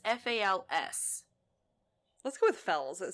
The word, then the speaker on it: Fowles: Well, it's funny because it could just be pronounced Falls, but it's Fals.